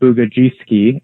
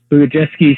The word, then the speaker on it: Bugajewski: So there's a professor whose name is Andrew, I believe you pronounce his name Bugajewski, and he was a